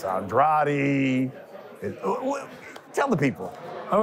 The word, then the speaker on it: Andrade: this fight you know last fight I said pronounce it Andre because I going against Deon Nickerson I was like man just say Andre now I think Benavides is Andrade is the way to pronounce this fight we